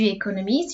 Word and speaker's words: économise: All of these ones are pronounced the same. J'économise, tu économises, il économise, elle économise, because the end here is silent.